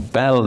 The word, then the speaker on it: Bayle: And one of the great exponents of that tradition was a man called Pierre Bayle, or Bell, if you try and pronounce it in French, who was nominally a